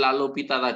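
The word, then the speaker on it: L'Hôpital: terkait dengan eh dalil lalu pitalah di nanti yang yang saya Tuliskan tadi l Hospital tadi ya tuh bacanya lalu pita itu bahasa Prancis itu penemunya memang orang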